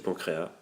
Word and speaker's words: pancréas: Une maladie, voilà, une déficience du pancréas, si vous prononcez le S.